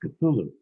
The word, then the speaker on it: Cthulhu: And he corrected me and he said, "No, it's pronounced Cthulhu."